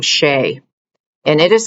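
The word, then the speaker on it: Shae: am going to have you practice the name Shay and it is spelled s h a e and I want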